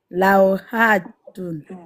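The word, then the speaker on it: لوحة: Par contre, ne prolonge pas, c'est pas hatun. Lauhatun.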